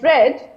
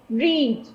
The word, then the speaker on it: read: of you are wondering why did i pronounce the first letter the first combination of read as read and not this read which you are familiar with is an act of reading like i'm reading a book i'm reading a newspaper